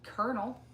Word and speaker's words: colonel: Colonel. Yeah, Colonel. Yeah, there's no R's in that word.